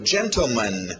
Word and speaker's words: gentleman: Continuando, gentleman. Tivemos lady e ladies, né, senhoras. Então, agora, gentleman. Pronúncia rápida geralmente vai tirar esse T.